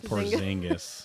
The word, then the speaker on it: Porzingis: Porzingis, who is an injured glass man takes after Anthony Davis.